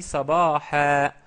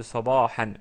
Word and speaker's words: صباحا: J'ai dit sabaha, sabaha au lieu de sabahan. Bien sûr, on peut dire sabahan, mais pour prononcer correctement, parce qu'on s'arrête sur le mot, on dit sabaha.